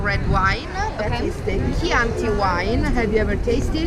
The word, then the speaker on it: Chianti: Chianti, not Chianti. Okay. Like the key of the door.